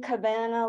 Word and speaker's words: Cavanagh: with me tonight John Cabana last name rhymes with banana for some reason that